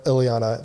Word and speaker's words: Ileana: Ileana. That's how you say her name.